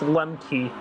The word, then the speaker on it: Lemke: I don't even know how to pronounce that. It's Lemke.